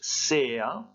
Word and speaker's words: sea: Attention, ce n'est pas de l'anglais, ça se prononce sea.